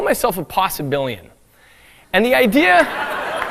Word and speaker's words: possibilian: I call myself a possibilian and the idea awesome billion how does he spell that is he billion b-i-l-i-o-n like there are a billion possibilities uh possibilian it's like an amphibian the issue with possibilianism